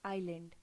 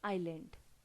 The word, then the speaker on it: island: Now students, here the S is silent, so we always pronounce it as island, not island or by any other name. This is pronounced as island.